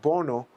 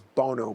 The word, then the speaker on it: Bono: have an event with Boro and I I know mispronounce it's Bono Bono the the singer